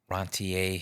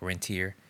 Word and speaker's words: rentier: um debt and sort of rantier history I guess if you if you will rantier. Yeah, that's like French like the pronunciation of like rentier like you know landlord reenter.